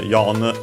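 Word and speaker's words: 四: She unfortunately uh well it more often than not pronounced actually as yon because she uh is also the uh reading for the ki of death.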